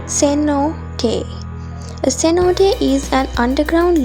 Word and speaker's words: cenote: at the other sacred cenote pronounced ceno day a cenote is an